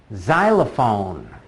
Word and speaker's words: xylophone: let's go zhu zhu xylophone xylophone that's one of those few words that is spelled with an ex but makes a Z sound zipper zipper Zaire Zaire